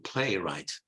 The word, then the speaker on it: playwright: Rhythm right right so you do not pronounce in this case the W playwright and then the world